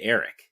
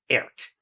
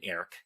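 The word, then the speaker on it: Airk: And he clearly says Eric. It's one syllable. I serve the Nelwyn, Eric.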